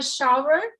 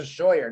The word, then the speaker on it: Shaver: I think I always say Scheuer, don't I? Yeah. I never noticed that V in there. Yes.